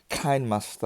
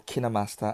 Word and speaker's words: KineMaster: you know on your kind master or kinemaster as some others would pronounce it um you know you